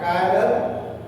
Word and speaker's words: chiral: So an object lacking of plane of symmetry, is called dissymmetric or chiral, pronounced K-I-R-A-L. Chiral.